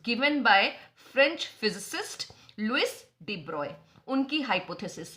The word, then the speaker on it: de Broglie: यहां आप स्पेलिंग देखेंगे तो BROGLIE करके लिखा हुआ है, जिसको जैसे लिखा जाता है वैसे ही पढ़ लिया जाता है, डी ब्रॉगली. ठीक है. बहुत जगह पे आपको प्रोनाउंसिएशन डी ब्रॉगली मिलेगा, लेकिन the correct pronunciation is डी ब्रॉय.